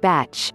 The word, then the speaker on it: Bach: remedies were developed by dr. Edward Bach pronounced batch who lived in England